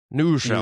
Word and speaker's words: New Rochelle: city school district of, is it Rochelle? How do I pronounce that? New Rochelle. New Rochelle.